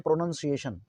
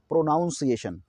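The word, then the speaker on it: pronunciation: वही लिख देते हैं प्रनंसीएशन अब यहां पर लिखा हुआ है प्रोनोंसीएशन ना कि प्रोनोउंसिएशन यह प्रोनोउंसिएशन नहीं है ना आप इसे पढेंगे प्रोनोंसीएशन यह वाइट क्या है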